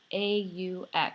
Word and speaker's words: aux: shopping Juve old magazine aux notice it's pronounced the same so we have three